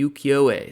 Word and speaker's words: Ukiyo-e: Japanese woodblock prints, specifically the Ukiyo-e style.